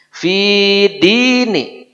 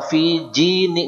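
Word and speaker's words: في دين: Jangan salah. Pi bukan. Fi. Fi dini. Ini banyak orang fi jini. Nggak jelas apa dia baca. Dini. Din maksudnya agama. Fi dini, neng dini, dini, fi di itu ya dini. Ya. Seperti dini bahasa Indonesia ya.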